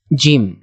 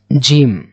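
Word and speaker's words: جيم: হ্যাঁ, আর এরপরে আসে জিম। জিম একটু শক্ত হবে, জিম, জিমের নিচে কিন্তু এক নোকতা।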